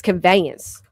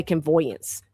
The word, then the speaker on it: conveyance: How do we pronounce it? Convoyance. Convoyance. Hold on. You know my my uh conveyance. It's conveyance. I always say convoyance.